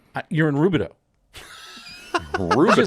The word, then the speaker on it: Rubidoux: And it's not spelled how it's pronounced. No, it ends with an X.